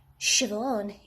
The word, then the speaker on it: Siobhan: thinking on my feet shove on shiv one is pronounced siobhan and nymph is pronounced